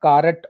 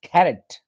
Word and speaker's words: carrot: dishes it is c-a-r-o-t it's not carrot or crat it's carrot carrot carrot stress is on